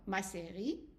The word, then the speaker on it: série: accent is an A, ma, se, ri. And the E at the end is silent. So, ma série. And again, we have the word préféré. So, préféré, you go up and down. Ma série préférée. And you go ahead. Ma série. Ma série.